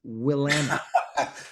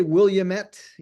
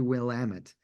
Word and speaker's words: Willamette: It took me a number of years, Steph, to learn how to pronounce that. It's Willamette. I won't try. People want to say Williamette, I wanted to say Williamette, but it's actually Willamette.